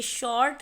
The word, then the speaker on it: short: शॉर्ट में आपको आर की साउंड नहीं आ रही होगी, क्योंकि ये शॉर्ट नहीं पढ़ते, हम इसे पढ़ते हैं शॉर्ट। तो आर जो लेटर है वो साइलेंट है।